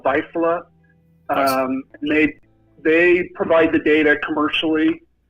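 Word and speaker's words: Vaisala: How do you pronounce that? Yeah, typically the National Lightning Detection Network is a company called Visalia.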